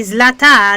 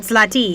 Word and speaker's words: Zlata: Okay, Yvonne is saying that surname is pronounced wrong. It's supposed to be Zlata, not Zlati. Zlati is a male pronunciation, Zlata for female pronunciation.